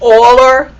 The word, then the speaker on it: Euler: he spells his name like this but it's pronounced euler and that's where the e comes from and